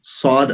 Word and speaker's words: ص: اور بتایا تھا کہ سین نارمل ہوتا ہے, اس کو اگر موٹا کر کے پڑھیں گے تو صاد بن جائے گا. اور کہا تھا یہ سین اور صاد اس میں فرق یہی ہے کہ سین باریک ہوتا ہے اور صاد موٹا ہوتا ہے.